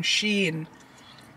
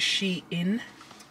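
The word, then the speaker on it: Shein: are the boots they're from Sheen or however you want to pronounce it I pronounce it she in but I've heard other people call it different things but yeah these boots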